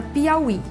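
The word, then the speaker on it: Piauí: paroxítonas então por exemplo a palavra Piaui nós temos aí pi au i o i é Tônico e precedido de ditongo Mas é uma oxítona está na última sílaba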